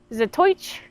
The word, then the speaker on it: Zatoichi: Also, I noticed in the movie, he's pronounced Zatoichi. That's just how the Japanese people in the movie say it. They say Zatoichi.